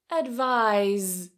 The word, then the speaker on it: advise: And then advise now we have vibration.